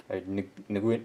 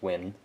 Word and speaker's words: Nguyen: Nguyen. It's pronounced Win, but Nguyen.